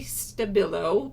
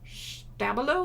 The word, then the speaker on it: Stabilo: I believe I always say Stabilo, but I believe it's pronounced Sch Stabilo or something like that. I think it has more of a sch sound to it.